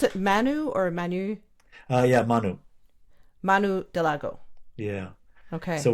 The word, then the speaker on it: Manu: Now, does he pronounce it Manu or Manu? Yeah, Manu.